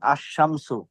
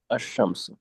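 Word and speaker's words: الشمس: যেমন আশ-শামসু, শিন। আশ-শামসু। আহ, আশ-শামসু আল কামারু বিহুসবান। কোরআন শরীফ আছে না? জি। সূরা রহমান। আশ-শামসু, শিন, আলিফ, লামটা উচ্চারণ হচ্ছে না, কিন্তু ওয়াল কামারু, কমর, ওয়াল কমর।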